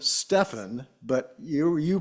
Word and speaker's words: Stefan: when you introduce yourself Stephen okay well that's that's what we're going with then yes Stefan's more like the European uh pronunciation as far as I know right uh Stefan or